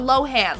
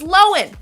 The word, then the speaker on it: Lohan: she says her name and turns out it's pronounced Lois not Lohan like we've been saying it wrong for years my whole life is alive I've been pronouncing it Lindsay Lohan it's lowen anyways okay I'll get over it eventually in